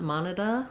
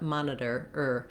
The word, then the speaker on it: monitor: Don't let it become a schwa, not monitor, but monitor, Anytime you see an R in English, American English, it's going to say the sound.